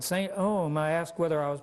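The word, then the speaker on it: St. EOM: "Saint Ohm," I asked whether I was pronouncing it correctly.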